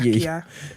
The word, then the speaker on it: Saskia: people are like Saskia. Saskia. They forget the whole S What? before the K.